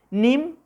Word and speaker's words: nim: Nim, se dan cuenta que la I lo pronunciamos muy sencillamente.